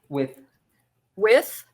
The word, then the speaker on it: with: pronounce that word slowly with with yes i love your pronunciation i wish i could sound like that but it's hard for us we tend to say like f sound with with but yeah